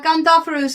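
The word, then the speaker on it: Gondophares: So yeah, Gondopharos is how you'd pronounce it in Greek.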